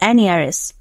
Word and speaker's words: heiress: Like হার brother she is also an heiress. Like her brother she is also an heiress. Like her brother she is also an heiress. এখানে এইচ এর উচ্চারণটা উজ্জ, এই জন্য কিন্তু অ্যান বসেছে।